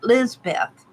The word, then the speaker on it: Lisbeth: Lisbeth. Is that how you pronounce it? Lisbeth. Lisbeth. Okay. Thank you.